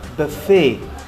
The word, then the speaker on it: buffet: Ini pronunciation-nya ada buffet. Karena ini adalah bahasa Prancis ya. Jadi asal kata ini adalah dari negara Prancis ya.